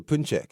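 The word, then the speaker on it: pączki: And then um I guess I'm wondering the significance of of the Punjuki itself or the excuse me the Punchek itself. You got to get me together on the pronunciations here. I I always You're good. You know yourself. I've tried. You said it perfectly well. Impressed. Punchk. Yes. There we go.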